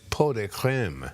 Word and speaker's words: pot de crème: If you spell it out, it looks like Pots de Creme, but it's pot de creme.